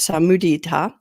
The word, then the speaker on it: mudita: The Sanskrit Pali term is mudita, and that's pronounced in a lot of different ways, but mudita.